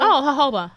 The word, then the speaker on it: jojoba: me mispronounce is because is it jojoba oil jojoba hobo yes the J is silent I'm using jojoba oil